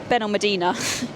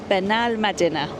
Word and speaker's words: Benalmádena: And Ben Medadina, which is what I was saying before, is actually pronounced Benal Mad Benal Medina.